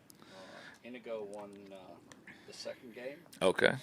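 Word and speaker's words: Iñigo: Inigo. Yeah. Accent on the first syllable.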